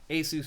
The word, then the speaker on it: Asus: Asus is is what they said is the correct pronunciation, as I recall.